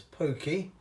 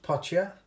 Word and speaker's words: potje: south african that's p-o-t-j-e it's pronounced in afrikaans as pokey but in dutch's pocha you can i'm using